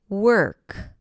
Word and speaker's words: work: And as you heard in the intro, these are words that have the W sound W and then the stir sound as in the word work.